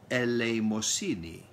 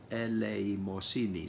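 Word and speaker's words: ἐλεημοσύνη: Originally pronounced in Greek, eleimosini, eleimosini, six full syllables, from the root eleo,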